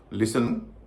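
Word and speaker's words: listen: ब्रिसल castle चेसनट मॉगेेज अब हम जानेंगे कि इन शब्दों में टी साइलेंट क्यों होता है। अगर आप इन शब्दों पर गौर करेंगे तो आप देख पाएंगे इन सब में या अधिकतर शब्दों में टी से पहले एस है और एस के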